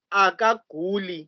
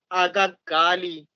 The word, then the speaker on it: akaguli: So the word is akaguli. It's not akagali. U in isiXhosa is u. It doesn't change to a.